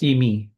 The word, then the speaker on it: Emi: it sounded like a common name, but pronounced slightly differently. Like Amy? But it was Emi.